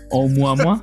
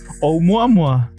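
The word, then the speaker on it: ʻOumuamua: Omwamwa. Umwamwa. We were right. You say it how you read it. Omwamwa.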